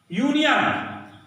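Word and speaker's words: union: यूनियन, जैसे यूनियन है ना, यूनियन में क्या संगठन, तो यूनियन यू से शुरू है लेकिन उसका उच्चारण यश हो रहा है, अ यूनियन।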